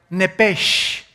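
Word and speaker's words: נפש: es la palabra hebrea nepes así como suena n e p e s h nepes la palabra la letra o las letras sh en el hebreo se pronuncian en hebreo como J Entonces se pronuncia nepe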